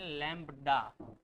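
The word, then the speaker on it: lambda: इस सिंबल को पढ़ते हैं लैम्ब्डा। ठीक।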